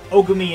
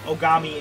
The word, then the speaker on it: Ogami: but then they went two steps back and mispronounced sakura and biakia's last name as ogumi and togami instead of ogami and togami so pick your poison i guess